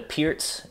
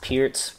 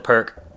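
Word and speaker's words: Pirc: C3 G6 this is known as the the Pierz uh defense for black it's spelled p i r c pronounced Pierz a lot of people call it the perk um so again it's one of these hyper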